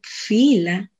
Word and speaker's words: filo: El filo, pronunciado en ladino fila, es una masa muy